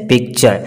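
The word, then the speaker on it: picture: दोस्तों पिक्चर में भी आप देख सकते हैं कि टी के बाद क्या आ रहा है, यू आर ई, तो वहाँ पे इसका जो प्रोनाउंस साउंड होगा चे का होगा, जैसे पिक्चर।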